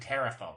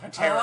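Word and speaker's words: Pterafolk: Oh, I thought you said terrafolk. Well, you pronounce it Terra folk, but it's spelled with a P. Oh, paterafolk.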